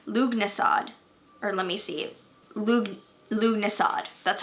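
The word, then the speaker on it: Lughnasadh: Lugnasad, that's how you say it.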